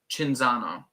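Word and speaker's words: Cinzano: chinzano should be everywhere I pronounce it with chinzano yeah that makes sense since it's Italian um Holden should be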